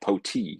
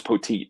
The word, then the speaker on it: Petit: And he goes, "No, the T is there because the PA guy was saying like Poti, and it's like I thought it was Poteet."